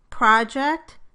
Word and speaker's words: project: In all of these words, the word is a noun when the stress is on the first syllable, and a verb when the stress is on the second syllable.